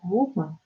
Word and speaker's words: Hum: On peut se prononcer le son Hum, H-U-M, et à chaque expiration, pareil, Hum.